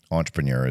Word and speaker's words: entrepreneur: I think entrepreneur is the English pronunciation but it's two French